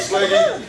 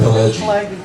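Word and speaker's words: Pileggi: I absolutely adore Mitch Slaggy. Is that how I pronounce it? Pelleggi.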